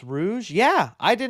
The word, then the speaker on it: Rouge: Someone said it's pronounced Rouge.